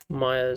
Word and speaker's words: Maya: I said, but it's actually Maya.